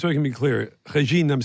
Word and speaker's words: Régine: How do you pronounce your first name? Régine. Say it again. Régine?